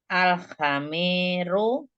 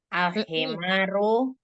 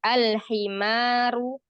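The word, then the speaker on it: الحمار: bacanya e yang ini Al khamiru jangan ha tapi ha-nya harakatnya kasrah Ali alhimaru heeh alhimaru alhimaru shirun Heeh Ahsan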